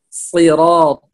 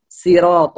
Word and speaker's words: صراط: اهدنا الصراط، صراط هنا، هنا الصاد ليس سين، فنقول صراط الذين لا نقول صراط الذين.